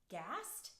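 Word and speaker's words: Gaest: I think it pronounced ghast GA est it was a started in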